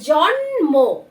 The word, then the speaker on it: জন্ম: এই বানানগুলো কিন্তু উচ্চারণটা করা যাবে না, এটা হবে কি জন্ম, প্রথমে ন তারপরে ম, জন্ম।